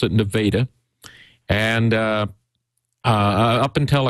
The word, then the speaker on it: Nevada: called Nevada Missouri that's spelled like the state of Nevada but the locals pronounce it nadaa and uh uh up